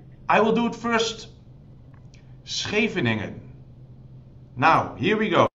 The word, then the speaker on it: Scheveningen: Scheveningen.